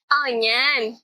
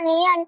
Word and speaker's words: onion: Onan. Tapi ini tulisannya onion, Kak. Iya, tapi dibacanya onion. Itu ejaan bahasa Inggris.